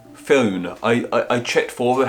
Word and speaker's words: Fionn: Fion? Fiona. I checked for how to pronounce this name and there were loads of different examples, but it's F-I-O-N-N.